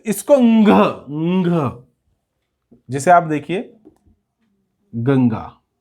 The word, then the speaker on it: गंगा: आपने कई बार देखा होगा इस तरह से ng में प्रोनाउंसिएशन होता है इसका, गंगा।